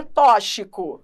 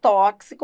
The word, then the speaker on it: tóxico: aí você vai explicar olha tóxico se escreve com x mas a representação fonética desse x não é a de ch entendeu Como é em xarope então em xarope o x se pronuncia como ch inem tóxico aí você